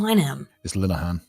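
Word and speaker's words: Graham Linehan: no but I always Graham Liam it's linan the game is men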